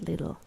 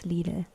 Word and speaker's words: Lidl: Yeah, it's not little, it's Lidl.